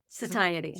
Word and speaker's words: satiety: Satiety.